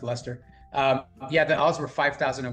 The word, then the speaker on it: Leicester: Yeah, it's written Leicester City, but it's pronounced Leicester.